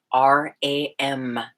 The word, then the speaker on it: Ram: The third chakra, the sound is Ram, R-A-M.